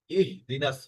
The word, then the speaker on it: اهدنا: এখানে ইহদিনাস সিরাতাল মুস্তাকিম, ইহদিনাটা একটু আপনার ইহি হয়ে গেছে, আপনি বলেছেন ইহি, মানে একটু হালকা আসছে, কিন্তু এটা কিন্তু ইহদিনাস মানে হাটা একদম গলার শেষ দিক থেকে উন্মুক্ত ভাবে উচ্চারণ করতে হবে।